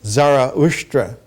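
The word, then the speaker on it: Zarathustra: as zarria but as Zoro Aster and zoroaster does not mean the same thing that zarou means in Ancient avestan One pronounces it Zara usra which means he who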